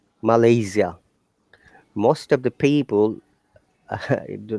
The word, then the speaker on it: Malaysia: pronounced the name of your country very correctly malaysia most of the people do not pronounce it correctly similarly remember that if you